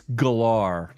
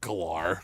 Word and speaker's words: Gellar: It's gellar. Thank you very much. No, it's not. It's not? No, are you serious? What do you mean? It's Gellar. It's not Galar. It's gellar.